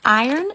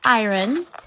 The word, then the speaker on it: iron: two important things one it's pronounced iron not iron and two iron out